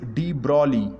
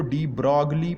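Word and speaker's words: de Broglie: ये स्टूडेंट्स, ये अक्सर बच्चे इसको डी ब्रॉगली पढ़ते हैं, तो इसमें जी को आपने साइलेंट करना है, जी इज़ नॉट अटर्ड, ये जी को आपने पढ़ना नहीं है, तो डी ब्रॉली, डी ब्रॉली, ठीक है।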